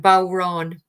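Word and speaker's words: bodhrán: that um oh I I I put the pronunciation anyway in a comment for you it's bow Ron the Irish um it's basically an Irish shamanic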